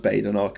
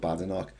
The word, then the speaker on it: Badenoch: But it is supposed to be pronounced Badenoch. She doesn't like being called Badenoch.